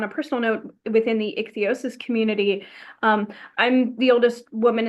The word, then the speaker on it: ichthyosis: And I think to say, not only in terms of your all right, I always mess up the pronunciation. Ichthyosis. Ichthyosis. I always love to add an extra little syllable in there.